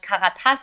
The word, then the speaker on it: Karatas: So it would be pronounced Karatas in German, but in English it's very good pronounced.